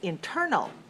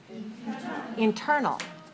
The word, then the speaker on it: internal: have number 10 is internal internal internal has three syllables where's the stress on the second one okay let's say internal right okay internal is